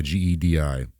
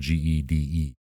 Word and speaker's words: Gedi: Yeah, Gedi. Or it's sometimes pronounced, or it's not pronounced, spelled Gede. That's what we're doing it on this week, Gedi. Oh, Gede. Gde or Gedi.